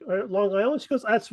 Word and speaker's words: Long Island: right folks you gotta you gotta have that g long oh Long Island Long Island Long Island